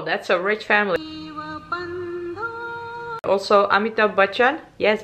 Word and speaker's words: Amitabh Bachchan: Also, Amitabh Bachchan. Yes, Bachchan. I pronounced it correctly, right?